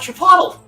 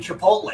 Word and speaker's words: Chipotle: He's like, "I want Chipotle." They're like, "Oh, you mean Chipotle." He's like, "Is that how it's pronounced?"